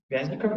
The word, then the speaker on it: Вязников: Вязников, да, правильно ударение? Да. Вязников, выпускник Шанинки, независимый исследователь, с докладом на тему стратегии отказа от участия в публичной сфере, популизм и фанатизм.